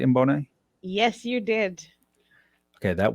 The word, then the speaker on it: Mboone: Did I pronounce that right, Mbone?